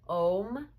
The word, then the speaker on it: Om: And when you use the sound of Om, I'd like you to think of it as having 3 sounds, but actually 4 parts, 4 syllables. So the first sound, you begin with the open mouth, ah, and begin closing into the O. And finally, closed mouth, the And the 4th sound or syllable is actually the silent syllable.